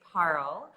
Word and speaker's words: Parul: my life yeah so my name is paral it's like yeah and like to help people phonetically pronounce it it's like carl with a p and what's really funny